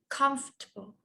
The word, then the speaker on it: comfortable: This one we have the word comfortable. Comfortable. Comfortable. Yes, comfortable. We have 3 syllables. Comfortable. Comfortable. We don't say comfortable, okay? We say comfortable.